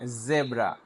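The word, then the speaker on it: zebra: এরপরে এটি দিয়ে আমরা বলি জেব্রা, জেব্রা। আমরা ভুল করে বলি জেব্রা, জিব্বাটা চেপে দিয়ে জেব্রা বলি। কিন্তু জেব্রা বললে যেই অথবা জি উচ্চারণ হয়, জেড উচ্চারণ হয় না। জেড উচ্চারণ করার জন্য বলতে হবে জেব্রা, জেব্রা, জেব্রা।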